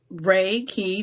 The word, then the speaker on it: reiki: into that universal life force energy so raiki Ray key the if you break that down in Japanese it's Universal energy like or Chi or key right so you're receiving a raiki treatment ay practitioners working as a conduit to